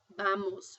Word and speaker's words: vamos: and if you'll notice, the letters B&V are pronounced exactly alike, so if I scroll down here to the V, which is uve, you still pronounces it as B That's venus (bay noose), vamos (bah mohs).